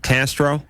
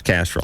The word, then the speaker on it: Castrol: You know the motor oil, Castro? Yeah. Or actually, it is Castrol. It's Castrol.